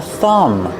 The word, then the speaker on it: thumb: This finger is called a thumb. Remember, with thumb, the B at the end is silent.